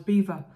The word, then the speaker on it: Belvoir: more you know well apparently it's called Belvoir but I think it was started in the time of the um William the Conqueror and it was a French thing and the locals couldn't pronounce it and all they could say at the time was Beaver so for let say it spelled belir it's beaver beaver yeah um which why